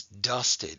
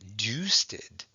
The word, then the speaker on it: dusted: the syllable okay and because it's a short vowel it's going to get abrev it's dusted it's not deuceded okay and then we